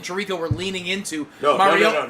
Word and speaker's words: Mariota: Marcus Mariota did actually comment that his name is the Italian pronunciation.